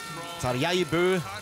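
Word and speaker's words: Tarjei Bø: Tarjei Bö, so wird er richtig ausgesprochen, hat ja alles gegeben, was er konnte.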